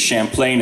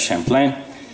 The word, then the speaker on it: Champlain: We know this because Champlain, or in English Champlain and French Champlain, he brought over musicians